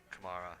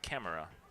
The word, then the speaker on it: Kamara: be mistaken that is diego kamara well you actually pronounce it camera is it really i believe you do yes because with a c i try i try